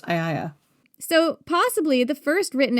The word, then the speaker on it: Aeaea: Well, it's actually Aiaia is how it's pronounced. Aiaia.